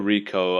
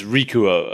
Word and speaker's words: Rikuo: Wait, is it Rikuo or Rico? I've written both. It's Rikuo. Okay.